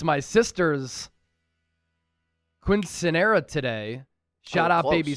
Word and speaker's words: quinceañera: It's my sister's quinceanera today. Shout out, close. baby sister, the biggest Niner fan I know. What is quinceanera? It's like look at you with that pronunciation, emphasizing that N with the accent.